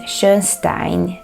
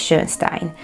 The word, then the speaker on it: Schönstein: Now, I was trying to figure out how he pronounces his name, because in the German pronunciation I think it's Schönstein. But according to Hungarian phonology, it's supposed to be Schönstein.